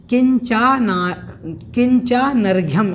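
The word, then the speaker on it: किंचानर्घ्यम्: तो हमें ध्यान रखना है चानर्घ्यम, किंचानर्घ्यम, इस प्रकार से इसका उच्चारण करना है।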